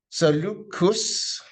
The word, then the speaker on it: Seleucus: Seleucus, and the Greeks tend to pronounce every syllable.